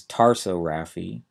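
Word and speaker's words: tarsorrhaphy: tricky because of spelling the first one is taro Rafi t a r s o RR a py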